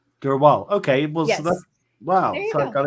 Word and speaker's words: Drwal: future uh my full name how do you pronounce your your last name last name dur wall Dural okay wow so I got it in one